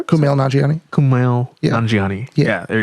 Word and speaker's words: Kumail Nanjiani: It's really long and It's got Kamal Gianni. How do you spell it? Kumail Nanjiani.